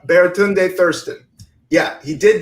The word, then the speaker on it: Baratunde: friend of mine but I'm pronouncing his name wrong right now baritone day is that a baratunde a Thurston yeah he